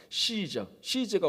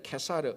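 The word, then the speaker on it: Caesar: 시저가 원래 한 사람의 이름이 아니라 케사르 뭐 이렇게도 발음되지만 그거는 그 로마 황제를 가리키는 호칭입니다.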